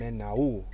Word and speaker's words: Menaul: We're at the intersection of Alvarado Drive and Menaul. It almost reminds me of Manuel, but it's spelled different.